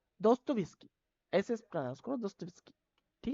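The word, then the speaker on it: Dostoevsky: जैसे बहुत सारे ऐसे है उनको भी मतलब प्रोनाउंस करने में दिक्त होती होगी आप लोग पता है मुझे यह जो राइटर है दोस्तो विस्की दोस्तो विस्की देखो दोस्तों ई विस्की ठीक है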